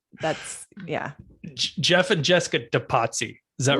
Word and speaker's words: Depatie: going to assume it's departi is that right i mean that's a good assumption because that's how it's spelled but i like to say de patsy because it sounds fancier and we don't have